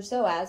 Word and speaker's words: psoas: right thing is for the pso is for psoas which is spelled p-s-o-a-s so so so so